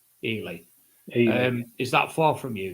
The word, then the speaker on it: Ely: Do you pronounce it Eli? Ely.